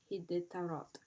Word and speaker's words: Iditarod: Now, the word Iditarod comes from an Athabascan Indian word pronounced Hiditarod.